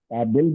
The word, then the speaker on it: काबिल: य का बल में ये अगर हम प्रोनाउंस करते हैं तो हम काबिल बोलते हैं अगर कोई हम काबिल बोल रहे या काबल बोल रहे काबिल है काबिल हल्की सी साउंड आ रही है जो कि जेर से आएगी बे के